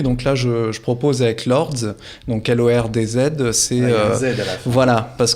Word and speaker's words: Lordz: Alors, ce magazine, vous allez nous en parler, il s'appelle Lords, je le prononce bien. C'est ça.